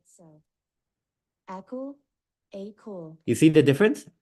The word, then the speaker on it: Akool: So for example, if I do Akool, they'll read it as Akool, even though we like to pronounce it as Akool. So when you're typing it, one advice I could give is, instead of doing Akool, do A space cool.